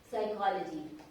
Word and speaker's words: psychology: Suppose you have to say psychology. So if you are writing psychology, you know the P is silent here and it is starting from P-E-S-Y.